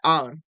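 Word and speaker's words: hour: एन आर एन आर बहुत से लोग इसे हावर पढ़ते हैं हावर नहीं होता ये होता है आर और इसे और बोलते हैं तो एन और यहां पर भी आ का साउंड निकल रहा है एन ऑनेस्ट मैन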